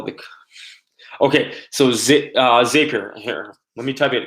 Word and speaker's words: Zapier: stuff that you're using, Zapier, so I pronounce it Zapier. Some people pronounce it Zapier.